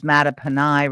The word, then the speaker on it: Mattaponi: yeah, so I guess that's a common mistake, but it's Mattaponi Reservation. So walk us down your career path and where you are now.